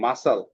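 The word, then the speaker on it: muscle: এখানে সাইলেন্ট তারপরে আছে মাসাল মাসেলের এইযে সিটা চাইলেন তারপরে আছে কি ওয়েনসডে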